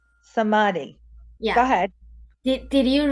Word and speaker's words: samadhi: no what is how do you say it samadi samadhi yeah go ahead did you research samadhi no